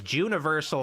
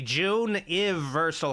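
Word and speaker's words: Juneversal: And I realize me pronouncing it as Juniversal Horror Month was a mistake. It's supposed to be June Versal Horror Month.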